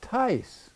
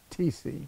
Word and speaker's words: Tice: first they're talking about Bob tice not TC but see to get